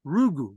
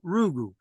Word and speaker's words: Rugu: So guru backwards phonetically is Rugu, Guru, Rugu.